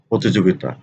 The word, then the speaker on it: প্রতিযোগিতা: তাহলে শুদ্ধ উচ্চারণ হচ্ছে প্রতিযোগিতা, প্রতিযোগিতা, অর্থাৎ এখানে রসিকার হবে।